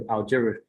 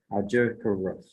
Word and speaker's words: Algeciras: 1950 court case, the Treaty of the Rights of Protection in Morocco, 1880, and the Act of Algeciras. That's how you say it. Algeciras.